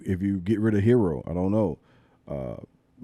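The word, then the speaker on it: Herro: keep I would keep hero though Euro huh hero oh now now you're gonna say his name right but a few years ago was Tyler Euro the only hero I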